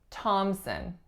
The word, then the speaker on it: Thompson: we have Thompson Thompson notice there are several things going on with this last name the first the obvious one is that there is no P sound so that P is entirely silent there are two syllables the winner is on the first the sound that the winner makes is aa and the second syllable is a schwa thomson thomson next one we have